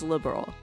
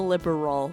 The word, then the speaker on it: Liberl: store by the way the name of the kingdom is liberal he's not saying the liberal news two syllables they're supposed to be